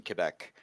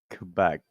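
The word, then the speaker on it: Québec: I noticed you say Quebec Quebec yeah and we are getting taught it's Quebec no Quebec same like here's here's the thing here's the thing in English Quebec is okay in French it's wrong I speak French this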